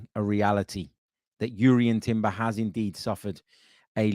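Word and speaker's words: Jurriën: is with regards to Jurrien, I should say, Timber, after he confirmed that you should pronounce the J.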